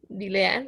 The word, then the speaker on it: Dilean: Dilean, like in Spanish. Oh, okay, yeah. Yeah. Dilene.